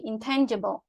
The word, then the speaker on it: intangible: Nah, itu stressing-nya di T-nya itu ya, T, intangible.